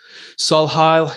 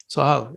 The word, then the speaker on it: Solhial: Today, I'm very blessed to have Solhial. Is that how I pronounce it? Yeah, actually, it's quite good. Sohial. Solhial, okay.